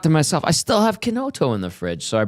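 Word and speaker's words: Chinotto: looked at the label, I would have said Brio Chenoto, but it's Kenoto. That's right. But it's spelled C H I N O T T O. C in Italian is a K.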